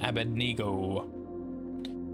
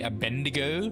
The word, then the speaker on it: Abednego: against Shadrach, Meshach, and Abednego. Most people say Abednego, but I believe it's pronounced Abednego.